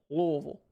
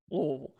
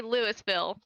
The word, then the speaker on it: Louisville: You have to say Louisville. I believe that's Louisville. Like you got to just move your mouth as little as possible. Louisville. You can't say Louisville. No, Louisville.